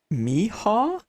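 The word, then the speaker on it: Michał: it's in Polish haha you pronounce CH like H in Honey and the L the slash character like w in Wake so Miha Miha Miha Miha I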